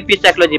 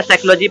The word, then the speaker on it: psychology: पी साइकोलॉजी, पी साइकोलॉजी नहीं, पी silent है, साइकोलॉजी practical notebook golden का है।